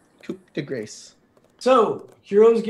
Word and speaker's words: coup de grâce: ever did it right it's coup de Gras Coupe de grace this is going to what de grâce for sure coup de grâce so heroes get to